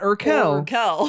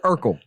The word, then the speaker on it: Urkel: spelled the same yes not irkel no urkel fresh prince hands down